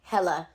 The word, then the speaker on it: Hela: I really enjoyed Ragnarok movie- only because of, I always get her name wrong, Hela.